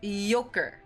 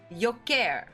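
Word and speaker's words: Jokić: This year's finalists for NBA MVP were Giannis Antentao, Shai Gilgis Alexander, and Nicola Yokic. It's pronounced Yoker. Yoker.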